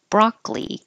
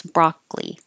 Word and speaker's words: broccoli: bourbon synergy synergy and broccoli we drop the middle o so you don't hear it at all just two syllables broccoli and this word I